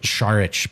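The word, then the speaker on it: Šarić: By the way, Harrison is the only DNVR guy who pronounces Dario's last name correctly. I thought I did it right today. We've adjusted Sharich.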